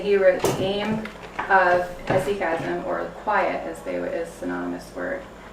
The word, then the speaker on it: hesychasm: If you want to spell it, it is HESYCHASM. And it's pronounced hesychasm.